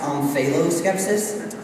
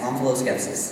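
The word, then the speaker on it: omphaloskepsis: words yes H skepsis can that also be pronounced onalo skepsis it could and it would be wrong OS skepsis o m p h a l o s k e p s i s enalos skepsis that's correct he rallies and Nails it that's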